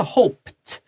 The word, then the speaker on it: hoped: 这个是 hoped, because P 是无发音的，啪啪啪。So 这个 ED 也要无发音的，ta ta ta。写下来 t，对，无声配无声的嘛，所以 p 好，无声的 p，现在无声的 t hoped，但有声的planned，好 combined，它就要有的声音。